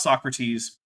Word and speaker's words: Socrates: who i believe is called so crates i think that's how you say it you think that's how you say that did you have a terrible unfortunate run-in with some tea yes it was in fact socrates all right so um